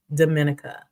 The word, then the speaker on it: Dominica: So how would you compare Dominica to Costa Rica? Harlem, am I pronouncing it wrong?